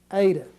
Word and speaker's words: eta: those two letters together it's pronounced like the A and the word late A8 late Alpha Beta